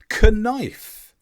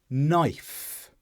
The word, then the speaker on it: knife: out the g fourthly k is silent before N I said kife but I should have said when I tried to pick up a knife without the k sound and this is another